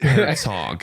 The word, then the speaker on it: Herzog: Like Herzog, like hog.